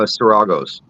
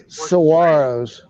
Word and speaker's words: saguaros: three hundred years old I believe it's pronounced uh saragos there it goes serago something like that saguaros saguaros thank you okay I'm sorry it's it's saguaros saguaros will get it right